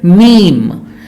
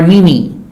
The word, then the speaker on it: meme: So this word is pronounced as meme, not meme or mimi.